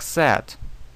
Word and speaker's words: said: глагол, как говорят некоторые, пишется как said, а читается как said.